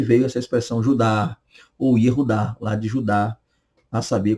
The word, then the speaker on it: Yehudá: Então, a pronúncia é Yehudá, Yehudá, ou Judá, como nós conhecemos, que eram dos filhos do patriarca Jacó.